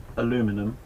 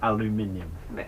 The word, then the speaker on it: aluminium: it's a bit like you know saying um aluminum but we we actually say it properly we say aluminium we're doing french as well okay so that's